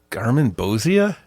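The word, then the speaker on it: Garmonbozia: Garmin Bozia.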